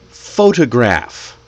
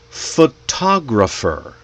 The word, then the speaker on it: photograph: For example, photograph. Oh, photograph. Photographer. How about photographic? They're all based on the same word, but they sound different because we put the stress in different places.